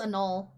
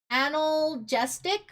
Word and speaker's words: analgesic: I think it's anol. I said it wrong. Whoops. I was gonna say specifically coconut palm, yeah. No. What was it? Analgesic?